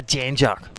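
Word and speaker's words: Jan Juc: A Janjuk.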